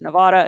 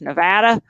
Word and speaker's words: Nevada: science actually i've been told that's not here pronounced nevada it's nevada um so um how did um how did